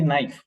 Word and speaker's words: knife: you speak we see knife where is k k is not to be pronounced it's silent where is e again